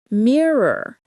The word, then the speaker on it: mirror: Mirror. Many skip the second R. Make sure to say mirror.